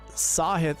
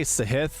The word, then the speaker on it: Sahith: last name so yes sahith is one of those interesting ones I always say siah that's the fast way to say his name but I'm pretty sure sure it's sahith and I think it's